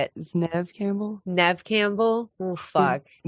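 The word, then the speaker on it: Neve Campbell: Neeve Nev Neeve how do you say it Nev Campbell Nev Campbell well the first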